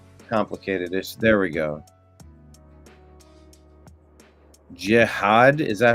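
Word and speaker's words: Jihaad: Jihad, is that how you pronounce it?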